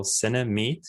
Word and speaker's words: Cinemeet: called cinemate it's it's spelled like cinema and meeting somebody so cinemate you can search on